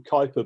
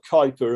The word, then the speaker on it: Kuiper: And by the way, if anyone's wondering, it doesn't seem like Kuiper's spelt that way, but that is the way it's pronounced, according to somebody from the Netherlands who's told me a while ago.